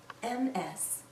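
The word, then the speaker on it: Ms.: Jones MS we pronounce this as ms/ms sounds like a Z at the end this a woman can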